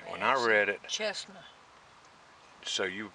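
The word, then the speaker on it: Cessna: When I read it, Chestnut. So you pronounce that Chestnut?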